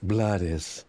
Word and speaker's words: Blades: Pronounce Blades just in case he thought I was going to get it wrong.